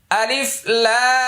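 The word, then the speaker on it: الم: আলিফ লামমি ভালো করে মন দিয়ে শুনুন। আলিফ তাড়াতাড়ি কোন টান নাই। লাম চার আলিফ টান। এরপরে লাম আর মিমের মাঝখানে গুন্নাহ।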